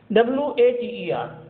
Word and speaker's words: water: WATER. In British English, water. R will be silent here.